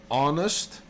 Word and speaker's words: honest: Honest starts with an H. You write it with an H, but you don't say the H. It is silent.